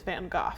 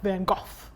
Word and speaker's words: van Gogh: you know more you're like excuse me it's van Gogh yeah and I also don't know if I'm fully pronounced I'm pretty sure it's that's how you would say it is van Gogh yeah it is I wrote it down okay